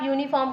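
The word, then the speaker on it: uniform: अगर आप यूनिफॉर्म का प्रोनाउंसिएशन करेंगे तो एयूनी होगा, ए आ रहा है तो हम यहाँ पे ए का यूज़ करेंगे।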